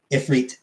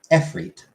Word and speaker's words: Ifrit: Ifrit is Arabic. It's actually Efrit in Arabic. EFR. IT, or sometimes EET.